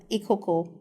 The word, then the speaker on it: Ikoko: soul name pronounced oh my son name is pronounced eoko yeah okay and you said you were from